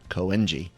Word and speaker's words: Koenji: Koenji, yeah.